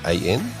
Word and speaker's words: Siobhan: But Siobhan is spelt the traditional Irish way. Yes, that's right. Yeah. Siobhan.